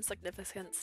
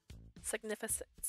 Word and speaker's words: significance: if it holds some significance to you significent God I know how to say this word signific NOP significent oh no I'm enunciating the wrong syllable significant significance there we go I did it